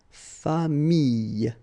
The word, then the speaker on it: famille: So with this I vowel, then you get the Y, okay, but then you will pronounce this I, so you get famille, okay, famille.